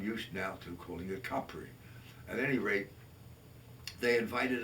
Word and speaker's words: Capri: going to the island of Capri, which we pronounce as Capri, but in the proper pronunciation, which I've absorbed over the years and which Craig has teased me about, I'm used now to calling it Capri.